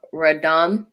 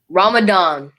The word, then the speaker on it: Ramadan: tiny talks we're going to be talking about radom yeah radam um ramadan yes i everyone knows like i suck at pronouncing names so just know that yeah ramadan